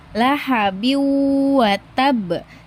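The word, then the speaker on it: لَهَبٍ وَتَبَّ: Jadi ketika membaca ini lahabiu lahabiu yang tadinya tanwinnya dibacain di sini teman-teman tidak boleh membaca in tapi harus dileburkan ke huruf wunnya lahabi wa tab.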